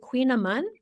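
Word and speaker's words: kouign-amann: I'm pronouncing it correctly I think it is I looked it up I think that's right but it's not spelled in the queen way it's spelled in a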